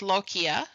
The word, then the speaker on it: lochia: It's pronounced lochia, and it takes about 3 to 6 weeks to completely resolve.